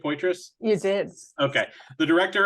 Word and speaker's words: Poitras: Did I pronounce that right? Poitras?